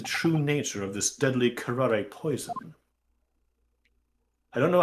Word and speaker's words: curare: Yeah, Karare is the way it's pronounced.